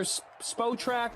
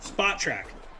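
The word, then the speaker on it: Spotrac: how to say it is it SP spot track or SPO track spot track spot track perfect thank you how do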